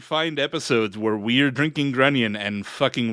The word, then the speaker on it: Grunion: maybe it's not maybe I know Grunion rhymes with onion but I got I